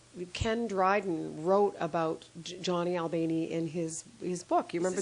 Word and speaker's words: Albany: Yeah, it's actually pronounced Albany, John Albany.